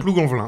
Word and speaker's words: Plougonvelin: pointe de Saint-Mathieu à Plougonvelin. Oui. Je sais pas si je le prononce bien. Plougonvelin, tout à fait.